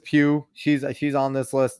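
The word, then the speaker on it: Pugh: to watch them Florence Pooh po I don't know how you say her name Pew I called her poo sorry but Florence Pew she's she's on this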